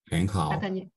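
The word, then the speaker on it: 很好: 很好。很好。 It's the same, right? 很好。 Very 很 is a third tone, but in this case, you're gonna say it like 很好，很好。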